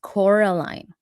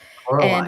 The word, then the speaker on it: Coraline: So yes, it's Coraline. I'm telling you, Coraline has a fandom and they get mad if you don't say it right. Coraline.